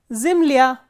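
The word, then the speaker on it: земля: Because the last syllable is stressed or the ending is stressed. The same way, zimlya, zimlya is earth.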